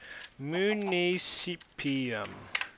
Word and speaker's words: municipium: And alright, so basically, yes, I knew the term, but I just didn't know how to pronounce it right. It is, let me write it down, municipium.